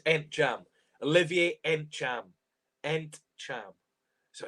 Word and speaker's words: Ntcham: It's Ntcham. Olivier Ntcham. Ntcham. So it's a tricky name to pronounce that, but Olivier Ntcham.